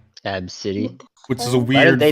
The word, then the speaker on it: ABCDE: feel bad yeah well this was funny that's pronounced AB City AB City which is a weird they do an item